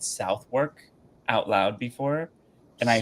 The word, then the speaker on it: Southwark: And it took me a minute to understand that it's not how you say it. It's pronounced Southwark. So it's set not South, South. and then not work.